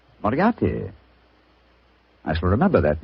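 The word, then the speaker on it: Moriarty: mispronounce it, I'm afraid I'll have to begin calling it the way it looks. M O R I A R T Y. Moriati. Moriati.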